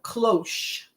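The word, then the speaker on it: cloche: Um I think it's pronounced cloth cl. We can say cloch. Yo, it is a sh though. Cloch.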